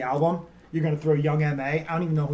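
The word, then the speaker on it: Young M.A: you're going to throw young ma i don't even know who young man is young ma is it young mom yeah well then why is it m.a that's just how it's pronounced okay that makes no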